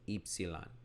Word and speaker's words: Ypsilon: It's actually pronounced in modern Greek as Ypsilon.